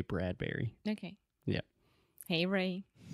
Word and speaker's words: Bradbury: wrote a lot of I'm sure it's Bradbury in that bread Brewery like Burberry it's not like Burberry perhaps if you were speaking in British English or something you pronounce it differently but I've always said Ray Bradbury okay yeah hey Ray